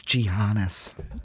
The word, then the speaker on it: Giannis: ones at some point Yannis not TMO pretty much a number one already but you know believe he said the name wrong it's gianas that hard fans are